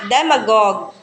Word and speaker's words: demagogue: No, this is demagogue. Demagogue.